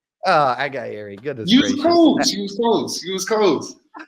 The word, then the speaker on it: Aghayere: Please welcome Chancey Aghayere. Yeah, close. Aghayere, yes, sir. How do you say it? Aghayere. Aghayere.